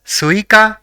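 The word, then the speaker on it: すいか: the third is Ka so it will be pronounced as suika which means watermelon let us say the fourth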